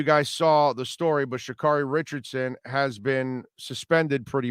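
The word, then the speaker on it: Sha'Carri: um the i want to make sure i pronounce her name the right way shakari richardson i don't know if you guys saw the story but shikari richardson has been suspended pretty much from the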